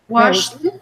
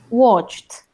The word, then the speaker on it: watched: you watched okay mm-hmm washed washed washed life watched you have to pronounce the T otherwise it can become confused with wash day levar okay watched washed okay yes there